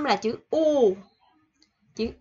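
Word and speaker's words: ㅗ: Không phải là chữ ô của mình ha, mà là U. Cái miệng mình phải đưa ra ngoài một chút chứ không phải ô. Ở Việt Nam mình ô rất là thoải mái, nhưng mà tiếng Hàn là U, là phải đưa U, khẩu hình miệng là chữ U ha.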